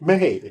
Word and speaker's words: Mei: It's May. I know. It's MEI. I know. It's not even like MAI where you could kind of see it being pronounced my.